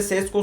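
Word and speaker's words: Šeško: Sesco 85 over'a kadar geliştirmiş. Şeesko mu diye okunuyor bu ya? Sesco demeyeyim. Şeşko diye okuyayım abi. Yanlış olmasın. Bu arada Koby Main oynamamış muhtemelen.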